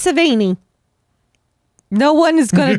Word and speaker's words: Sevigny: Yeah, you just swallow the last few letters and you say it right.